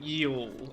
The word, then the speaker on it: Yioul: So I've been saying Yioul. It's like, it's one of those, Yioul. like, it's hard to... It's like a back of the throat thing, isn't it?